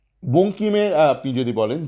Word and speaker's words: বঙ্কিম: বা বঙ্কিম যদি বানানটা দেন, যদি ইংরাজিতে দিয়ে দেন BANKIM, সে কীভাবে উচ্চারণ করবে, ব্যানখিম।